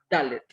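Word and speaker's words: דלת: Y al principio pues está una dalet y una kamatz que forma la sílaba da. Luego está una lamet y una segol que forma la sílaba le. Y ya al final está una tab que tiene el sonido consonántico de T. Entonces dice da, le, dalet.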